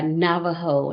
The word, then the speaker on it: Navajo: It's called the Heard Museum, and it's based off of the history and the culture of the Native Americans, which are majority Navajo in that area, in that region.